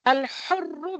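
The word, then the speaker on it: الحر: Number one is al-hurru bil-hurri. Here again, from the middle part of the throat, you have to pronounce. Al-hurr.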